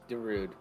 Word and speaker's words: Darude: in the hurricane uh dude don't rude yeah no the title should be Darude Darude yeah I'm fine